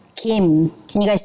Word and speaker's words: Kim: Kim is actually pronounced Kim can you guys say it Kim so it's like the soft k sound Lee is actually pronounced